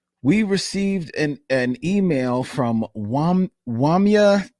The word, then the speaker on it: Wamya: We received an email from Wamya. Hey, Wamya? Wamya, W-A-M-Y-A. Hey, Wamya. Okay. So hopefully I am pronouncing that correctly.